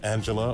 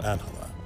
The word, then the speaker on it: Angela: talking to miss Solano is your name pronounced Angela or anela both are fine but uh most people